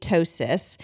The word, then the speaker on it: ptosis: There's something called kidney ptosis, and just for some orientation, the first time